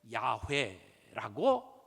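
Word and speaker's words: 야훼: 그런데 학자들이 이것을 어떻게 발음했을까를 쭉 연구하다가 가장 그래도 근접하게 읽는 표현을 야회라고 사람들이 밝혀냅니다. 그래서 요즘에는 학자들이이 여호와라고 하는 표현보다 야회라고 하는 표현을 많이 써요.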